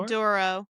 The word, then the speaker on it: Maduro: And right now, the left is going crazy with us taking uh I'm going to say his name wrong. Menura. Is it Muro? Maduro.